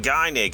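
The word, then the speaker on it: Gynoug: And finally, as a little bonus, is a classic retro game called Gynig, or I like to pronounce it Gnog, but Gynig apparently.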